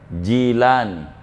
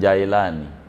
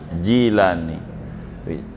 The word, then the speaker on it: Jilani: aja gitu namamu siapa Jilan bukan Jaelani Iya nggak ada kampung di Baghdad jailan Jil jili Jilani jangan salah baca kalau anda bacanya Bintara